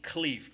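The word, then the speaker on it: Khleif: the next one is rod rod Cleef k h l e i f he is the mentor of people who own thousands of properties his name is Rod Cleef he does multi-family and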